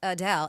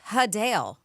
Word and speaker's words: Adele: Adele is not, in fact, Adele. It's actually Hadale.